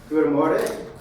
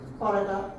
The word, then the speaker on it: Goedemorgen: for you to correct me when I inevitably mispronounce what I'm about to say. Dzień dobry. Dzień dobry. Buongiorno. Goedemorgen. Goedemorgen.